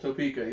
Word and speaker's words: Topeka: it you know they came from Topeka Kansas Topica how's it pronounced Topeka yeah very cool that you have someone come